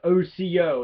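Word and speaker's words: ᎣᏏᏲ: OCO. That's how you pronounce it, but I don't have like the actual writing. OCO is what you say in Cherokee, but when you write it, it's different.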